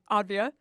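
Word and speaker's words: Avdija: Yeah, Advia. That one, that guy. Yep. That's Advia. I always want to, because the letters are backwards.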